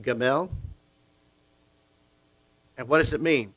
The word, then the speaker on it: gimel: and then lamin l and so this is pronounced gamel and what does it mean to lift up